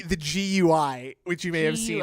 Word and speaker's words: GUI: Like, and I remember back then thinking, no one in the world says guey. And if you say guey, you're an insane dork. Say gui. G. Even though it's more syllables, GUI is so much more pleasing to say than gooey.